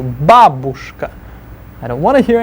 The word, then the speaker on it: бабушка: Stress the ba, first syllable. Бабушка.